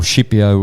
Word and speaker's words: Scipio: in the life of Scipio, or Shippio, which is the right way it should be pronounced in Italian, the great general who defeated Carthage.